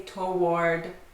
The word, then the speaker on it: toward: Yeah, this one is often mispronounced. I hear people say toward or toward. 2 syllables. This has 1 syllable, and you do not pronounce the W. Actually, you don't really pronounce the A either. Toward, toward. Rhymes with board.